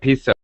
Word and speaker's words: piso: have peso too and it sounds the same but it's more like piso and they spell it P IO okay and it's slightly different pronunciation but and virtually the